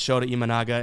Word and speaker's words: Shota Imanaga: But on the mound today is Shota Imanaga, and I think that this is a pretty... I nailed that pronunciation.